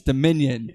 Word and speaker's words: Dominion: how to pronounce Dominion it's not called domination its Dominion it's not that hard to say it's three syllables doe men you turn alright so going back